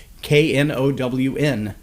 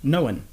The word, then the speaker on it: known: example of that is the word known, K-N-O-W-N, known. There's no reason that that should be more than 1 syllable, but many PhD especially professors that have anything to do with communication or English, pronounce that word with 2 syllables, knowing. Almost like I've been knowing that for a long time, only without the G, knowing.